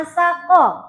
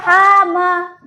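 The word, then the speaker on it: حم: Jangan sampai kita ketemu huruf seperti ini kita bacanya asaqo. Hama. Dibaca hama. Boleh nggak? Nggak boleh.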